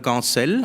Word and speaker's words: Gancel: My name is Gancel, and this was well pronounced.